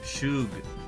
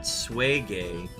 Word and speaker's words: Suge: Now you know about Shungite and Suge Knight, which is pronounced Shug, not Swage.